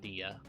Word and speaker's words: Dia: Dia as a name is pronounced Dia.